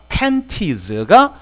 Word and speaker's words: panties: 자, 이걸 panties라고 읽기도 하는데 N 뒤에 T는 발음을 안 하니까 panties가 삼각 팬티고 이렇게 사각 팬티 있죠?